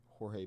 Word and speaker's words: Jorge: Ray Burris, Dave Stewart, Dave Smith, Jorge Bell, John Montefusco, Ricky Keaton. Actually, I think someone one time told me that it was George Bell. He pronounced it George.